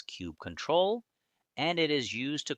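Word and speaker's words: kubectl: However, one last and very important tool is still missing which is cubectl pronounced as cube control and it is used to control and manage the kubernetes cluster.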